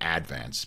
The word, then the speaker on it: Advance: the staten island advance or as we said in staten island the advance putting the syllable on the accent on the first syllable but um i had